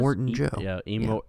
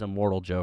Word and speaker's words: Immortan Joe: Immortan Joe. Yeah, I thought it was Immortal Joe for the longest time.